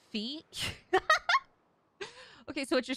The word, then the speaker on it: Fi: his name is an ambiguous and Japanese it rhymes with my so it's feet okay so what you're saying is it's pronounced